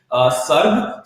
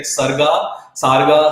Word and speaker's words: Sarg: About the company's name, Sarg. So Sarg is something sort of a very uncommon name that usually people come across. Even people are like unable to pronounce it. They're like Sarga.